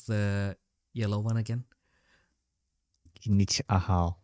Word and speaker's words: Kinich Ahau: Yeah, I think I have the image for the Athena and the what is the how do you pronounce the yellow one again? Kinich Ahau. Kinik Ahal.